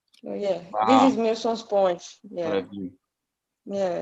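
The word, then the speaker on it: Milsons Point: I say, is that how you spell it? Newson's Point? Milson's Point is Milsons.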